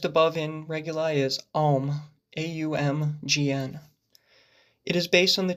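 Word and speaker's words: AUMGN: Ultimately, it's a very nasally sounding word or syllable when uttered. Gnosticism, nasal, right? You're using that nose space to actually produce the sound.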